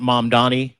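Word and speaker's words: Mamdani: with ma'am Danny and mom Donnie. Mom Donnie mom Donnie that's how you say his name.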